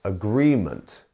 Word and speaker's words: agreement: second part isn't it it's the gree bit it is agreement not agreement or um agreement you see it's agreement and we have